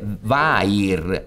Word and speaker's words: vair: Lui aveva detto verre, forse la R era un po' troppo appoggiata, ma gli voleva dire vair, che si pronuncia verre, ma significa cuoio.